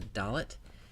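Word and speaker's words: דלת: The next letter of the Hebrew alphabet is a dalet, which sounds like the English letter D.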